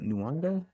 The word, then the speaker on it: Nyong'o: What's it, Nyong'o?